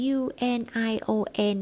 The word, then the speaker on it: union: o n นะ คะ ตัว นี้ นะ คะ จะ แบ่ง เป็น 3 พยางค์ นะ คะ เน้น เสียง ที่ พยา าง แรก นะ คะ เป็น Un นะ คะ เป็น แบบ พูด เร็ว ๆ นะ คะ ไม่ ใช่ เป็น แบบ Un อย่าง เงี้ นะ คะ เป็น Union นะ คะ Union นะ คะ คล้าย ๆ กับ Union ประมาณ นั้น นะ คะ แต่ จริง ๆ